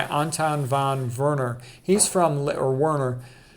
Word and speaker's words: Werner: He's from Werner. A lot of times a W is pronounced like a V.